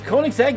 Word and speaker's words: Koenigsegg: bugatti devo going up against the hot wheels koenigsegg yes go and yes that is how you pronounce it it's a swedish car special thank